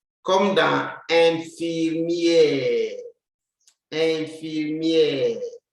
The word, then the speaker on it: infirmière: You see the accent on the E, like this one, will make it sound E. Infirmière. But the E at the end will not sound.